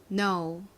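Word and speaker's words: know: 모였을까요 기억나시나요 알다라는 의미의 no입니다 따라해 볼게요 no no ok 자 세 번째 단어 요거는 무슨 의미일까요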